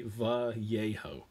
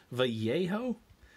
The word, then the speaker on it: Vallejo: i'm joking of course i think it's technically va yeho vallejo man i'm sticking with vallejo there's l's in there i'll pronounce the jays like they're spanish i believe vallejo is